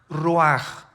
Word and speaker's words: ruach: versículo 29 y exhaló Isaac Qué cosa el ruaj que se escribe r u a c h ruach en el hebreo y y se pronuncia igual raj Aquí vemos que al morir dos personas diferentes